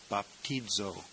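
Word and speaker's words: βαπτίζω: one is bapo bapo the Zeta is pronounced almost like DZ in this word baptizo and it means I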